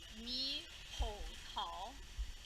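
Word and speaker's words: 猕猴桃: Kiwi is pronounced mi hou tao, which means monkey peach, because the skin on it feels like a monkey, and because monkeys like to eat them, apparently.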